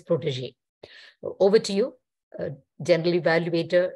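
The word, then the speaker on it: protégé: And the pronunciation variation, the correction would be protege. It is not protege or protege as several people pronounce. It is protege.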